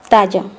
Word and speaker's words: talla: The letter ya, the double L sound in Spanish is pronounced the same as Y in Spanish. Ella, talla. This double L is confused for English speakers because they pronounce it like a single L.